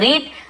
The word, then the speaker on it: read: Spelling READ, READ, READ, रीड यानी पढ़ना, लेकिन इसे बोलते समय अलग अलग पढ़ते हैं। रीड, रीड, रीड, कई लोग ऐसे बोलते हैं, लेकिन रीड, रेड, रेड, पढ़ा, ठीक है, इस प्रकार से।